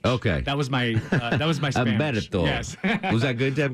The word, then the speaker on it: Umberto: Umberto with a U or an H? With a silent H. Okay. That was my Spanish. Umberto.